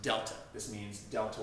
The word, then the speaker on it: Delta: I hope you know that this triangle is pronounced Delta this means Delta y the change in y